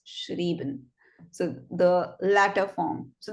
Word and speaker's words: schrieben: So if it's EI, you pronounce the word as schreiben, but if it's IE, then it's schrieben.